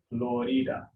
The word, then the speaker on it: Florida: harder word to say but la florida and the accent is on the second last syllable because it's developed and